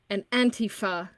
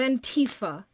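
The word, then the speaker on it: antifa: have to say it an anti feh is pronounced that way not in Tifa it's not made to sound scary and foreign by the way those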